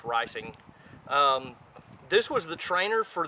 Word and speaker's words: Reising: made on Eugene risings Patton and it is pronounced ricing this was the trainer for the model 50